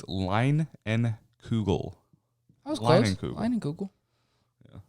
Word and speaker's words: Leinenkugel: I was going to say, it's a pronunciation of the brand name. Oh, where's that? It's Leinenkugel. I was close. Leinenkugel. Yeah. Leinenkugel.